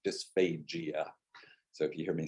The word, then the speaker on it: dysphagia: So I pronounce it with a very hard G, dysphagia.